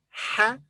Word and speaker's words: ح: So this is ha. This letter has no English equivalent. Its pronunciation is similar to the English letter H, ha, but more from the throat.